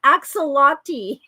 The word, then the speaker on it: axolotl: Axolotl.